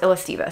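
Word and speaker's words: Illesteva: how to pronounce this I don't know if it's El estiva or elasteva apparently they're pronounced illestiva so anyway illustivo these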